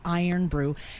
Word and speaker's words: Irn-Bru: I'VE ALWAYS PRONOUNCED IT IRN-BRU. THEY TOLD ME THAT'S INCORRECT. IT'S ACTUALLY IRON BREW.